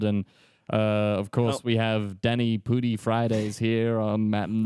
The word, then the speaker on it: Danny Pudi: yeah, I thought when you said Daniel Radcliffe that you meant Danny Pudi.